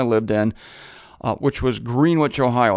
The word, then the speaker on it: Greenwich: green Wich it's not Greenwich it's spelled the same as Greenwich of course I tried to be the sophisticated one and I came to town calling it green wi soon found out it was Greenwich anyway there was an